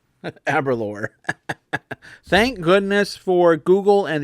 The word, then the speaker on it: Aberlour: This is how you pronounce it. Aberlour. Aberlour.